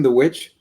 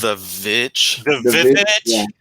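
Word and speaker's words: The VVitch: oh just a missing the which I believe pronounced the vich but just have you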